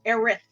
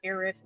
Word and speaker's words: Aerith: spelled her name wrong her name is aerith what a th not irish it's so bad oh